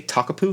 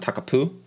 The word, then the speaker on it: Takapu: Also say Takapu, not Takapoo, because, well, if there's